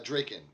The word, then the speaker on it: Draken: dragon or grogan uh draken i'm assuming because because it's d-r-a-k-e-n is taken so it rhymes if